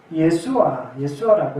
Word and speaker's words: 예수아: 히브리어는 예수아라고 이렇게 발음합니다.